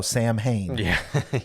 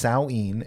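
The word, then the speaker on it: Samhain: if you see it you probably think oh Sam Hayne which is how I've always pronounced it uh but is it's pronounced saen it's a Gaelic celebration that would happen at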